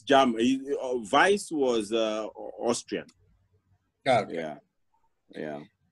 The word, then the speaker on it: Weiss: for curiosity as you are looking what the pronunciation was waste or vase yeah no no no it's jam vice was uh austrian yeah yeah so um yeah